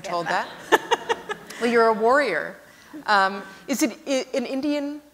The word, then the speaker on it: Warrior: same thing in India it's phonetically the same as the English word Warrior but it's very convenient